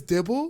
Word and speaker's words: Dible: your last name is dible well it's D D it's actually pronounced yeah Bible but with a d it's like the holy